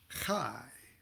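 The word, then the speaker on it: Chiah: top the high and that's spelled c-h-i-a-h usually kai like lekheim to life okay the kai the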